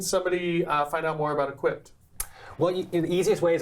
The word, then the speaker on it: eqpd: So tell me this, how can somebody find out more about Equipped? Well, the easiest way is online or Instagram, Equipped, spelled with 4 letters.